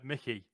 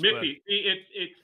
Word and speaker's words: Michie: Yeah, it's Michie. That's Michie.